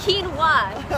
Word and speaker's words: quinoa: But it's quinoa.